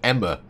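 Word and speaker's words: Aima: Apparently it's called Emma. Yeah, apparently it's Greek for blood. It's spelled Ama. A-I-M-A. Apparently it's pronounced Emma.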